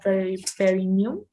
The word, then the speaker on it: perineum: How could you pronounce this one? This one. Central tendon of perineum.